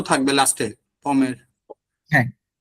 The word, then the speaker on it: pommes: হ্যাঁ হ্যাঁ, লেপম, এস তো থাকবে লাস্টে পমের। হ্যাঁ, লে, POMMES, যেহেতু লে দিচ্ছেন এর জন্য হচ্ছে এসটা আসবে, হ্যাঁ হ্যাঁ হ্যাঁ, বাট উচ্চারণ কিন্তু সেম, পম পম, জি, উচ্চারণ সেম।